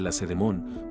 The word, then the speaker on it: Lacedemón: espartanos, se llamaban lacedemonios en honor a la ciudad de Lacedemón, cuyo acento se coloca erróneamente en la última sílaba.